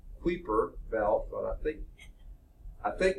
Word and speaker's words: Kuiper Belt: heard out several ways I think it's pronounced Piper Belt the parts of people call it creeper belt but I think I